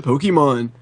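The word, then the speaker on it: Pokémon: Anytime I play something with Pokemon, they're like, oh my god, how do you not know that's a Pokemon? It's pronounced Pokemon.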